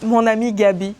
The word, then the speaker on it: Mon Ami Gabi: Ici, les Anglo, ici, Mon Ami Gabi. Just how you guys pronounce it. Mon Ami Gabi. It's Mon Ami Gabi, français.